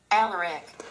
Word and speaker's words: Alaric: Alaric, Alaric, Alaric, Alaric. So this is most like what my name actually sounds like.